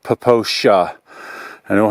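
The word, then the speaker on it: Popo Agie: is actually PR pronounced the this Wilderness is pronounced poosha I don't know how it's spelled but it's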